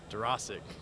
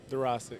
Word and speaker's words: Dworaczyk: Go ahead and pronounce that for me. Dworaczyk.